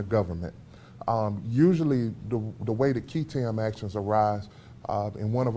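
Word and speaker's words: qui tam: One of the things that you were teaching us was, and you helped me on the pronunciation, Ketam.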